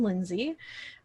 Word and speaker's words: Lindsay: little bit about it my name is pronounced as you would imagine lindsay um and in terms